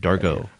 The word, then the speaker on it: Dargaud: Or Dargaud, that's how you pronounce it, Dargaud.